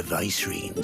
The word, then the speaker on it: Vicereine: Can't imagine the Vicereine stopping to trade tales with a bearer. Can you? Vicereine, okay, that's how you pronounce that word.